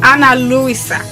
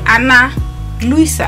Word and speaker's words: Ana Luisa: Yes, Anna Luisa. It's spelled as A-N-A-L-U-I-S-A. Anna Luisa. I think that's how they say it. I might be saying it wrong.